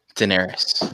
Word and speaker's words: Daenerys: How do you pronounce her name? Daenerys.